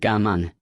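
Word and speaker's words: Cảm ơn: Thank you is pronounced Ga Mun.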